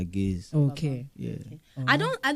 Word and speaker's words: Gaise: record deal in 2010 now we add the e so that the pronunciation clearance okay say guys put e put e clear say gays.